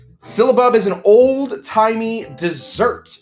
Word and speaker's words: syllabub: last one we're doing tonight is called a syllable that's right syllabub silibub is an old timey dessert it used to